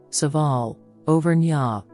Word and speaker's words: Orcival: glass windows Our Lady of oral oral French pronunciation saal overa oral is a commune in the Pu de